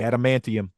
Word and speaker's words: adamantium: reference to antim how do you say it adamantium yes adamantium that caught me off guard she